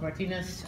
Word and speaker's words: Martínez: my name is pronounced Martinez I'm in what they call the character department